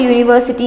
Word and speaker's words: university: So Neha has a university degree. University's degree, in this the vowel is spelt, U is there, right? But the sound is Y-O-O, U sound is there.